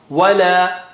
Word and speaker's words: ولا: Wa is from, make the lips round. Don't say wala, not like V. Wa, wala.